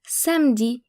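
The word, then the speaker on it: samedi: to note here is that the e in samd is silent in France the week starts on Monday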